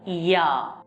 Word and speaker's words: ja: Yes is called as ja. Ja. You already learnt it in alphabet. J is pronounced as Y.